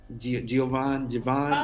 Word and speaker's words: Giveon: Javon. Oh yeah. Giveon, that's his name. Giveon, that's how you say it.